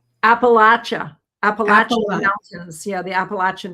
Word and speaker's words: Appalachia: And they said when I went to those regions, they said, "And if you don't pronounce it per properly, Appalachin, they'll throw an apple at you."